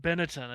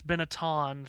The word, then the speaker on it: Benetton: You lot over there really butcher that name, Benetton. It's Benetton, thank you.